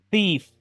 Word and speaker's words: thief: Thief. Relief. Si se dan cuenta, aquí la E no se pronuncia y la I se pronuncia como una I.